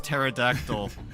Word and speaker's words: pterodactyl: Mine is pterodact mine is pterodactyl cuz because uh people don't know that the p is silent.